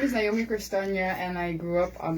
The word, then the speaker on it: Naomi Korstanje: And with me in the studios this morning is none other than Naomi Korstanje. Now, my Dutch is good, so I think I pronounced that good, right, Naomi? Yes, Naomi Korstanje.